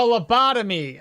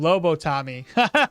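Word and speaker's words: lobotomy: A labbotomy. Oh, I see. I said it wrong. Lobo Tommy.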